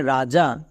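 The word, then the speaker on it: wring: ডবর উচ্চারণ হয়েছে বাট এই ওয়ার্ডে চলে আসো এর উচ্চারণটা হবে রিং এখানে কিন্তু ডবর উচ্চারণ হয়নি তাহলে তাহলে কোশ্চেন হল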